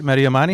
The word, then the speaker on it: Mehdi Amani: Is that how you say it? Mehdi Amani?